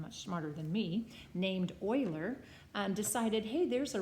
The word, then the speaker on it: Euler: I'd end up with 14 equal 14 so Euler's formula is what it's called I know it looks like Euler but it's pronounced Euler is simply faces plus vertices is